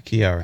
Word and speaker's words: Chiari: support her right okay one more time conquer Chiari conquer Kiara I said it right there chance right snacks